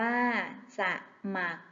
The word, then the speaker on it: สมัคร: ค่ะ เด็ก ๆ เช่น สมัคร อ่าน ว่า สมัคร เกษตร อ่าน ว่า กเษตร